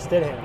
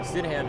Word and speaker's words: Stam: what's like RJ Stam how do you say his last sidam Stam yeah Stam is driving today so